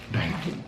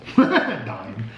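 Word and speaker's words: Daim: I said Dime. Dime.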